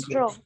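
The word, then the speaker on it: restaurant: अब T silent है, रेस्ट्रो।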